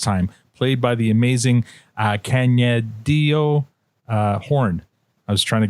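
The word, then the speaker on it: Kaniehtiio: She goes by Tio, but it's Canyadio Horn.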